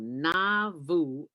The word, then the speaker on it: Nauvoo: hours south of chicago called na vu illinois am i pronouncing that right dwayne yeah you're pronouncing it right i never knew it